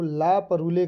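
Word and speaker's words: La Parure: Story है और इसका जो टाइटल है वो ला परूले करके है, ला परूले, ठीक है। अब आप इसको क्या प्रोनाउंसिएशन करेंगे इसका, ये है ला परूले करके, ठीक।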